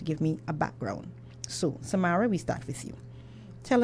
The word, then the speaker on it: Samara: We have with us for now Samaria. I said it right the first time? Samara, yes.